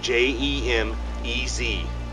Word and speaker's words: Jemez: up jemez is spelled j-e-m-e-z so it looks like gemma's but it's actually pronounced jemez so check that out